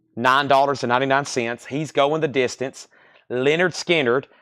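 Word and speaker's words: Lynyrd Skynyrd: quintet that's $44.99 and Leonard skinnard pronounced Leonard skinnard also analog Productions shered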